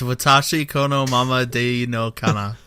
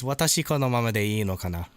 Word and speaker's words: 私このままでいいのかな: It's Watashi Kono Mama de no Kana. I don't know if the pronunciation was garbage. Probably it means it's like I wonder if I can keep it as it is, or like I wonder if things will stay the same, that sort of thing. Proper pronunciation is Watashi kono mama de ii no kana.